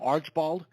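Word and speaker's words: Archbald: On last night's newscast, the question came up is, how do you get Archibald from Archibald? Well, the same way you get Acme from Acme. You just put an extra A in there.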